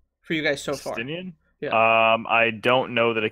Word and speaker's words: Estinian: I don't know how to pronounce it, but the new Dragoon is something else. Estinian, yeah. Estinian.